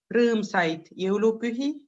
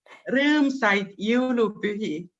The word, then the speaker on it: rõõmsaid jõulupühi: When you wish to somebody, when we say happy Christmas time, we say rõõmsaid jõulupühi. So that's maybe. You sound like you're yodeling. Yodeling. How do you say it again? Rõõmsaid jõulupühi.